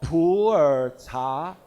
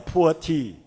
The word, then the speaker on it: Pu'er: In typical Chinese pronunciation, Mandarin pronunciation, it's called Pu'er cha, Pu'er tea. But with your typical intonation, it may become a poor tea.